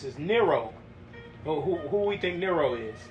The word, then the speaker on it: Nero: Nero, Nero, like zero.